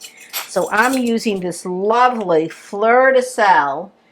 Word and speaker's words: fleur de sel: So I'm using this lovely fleur de sel. It's French. It comes from, I don't know, Camargue. Bruce, how do you pronounce it?